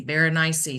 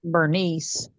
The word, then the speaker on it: Berenice: it and they said just rhyme it with something spicy bar niy something spicy and so I thought that was really interesting so I don't think it's bad to pronounce it whatever way you've always heard it so well and it also goes with the dialect that you grew up with you know it's like I'm from east Tennessee so we always pronounce it like Bernice or bernus you know it's bernes